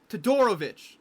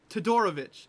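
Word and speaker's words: Todorović: Toadorovich. I finally figured out how to say his name. Toadorovich.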